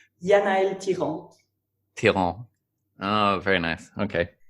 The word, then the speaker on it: Yanaëlle Thiran: I'll just say it the way I say it. Yanaëlle Thiran.